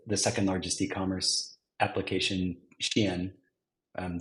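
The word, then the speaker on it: Shein: second largest e-commerce application Shen um some might pronounce it Shane um and within that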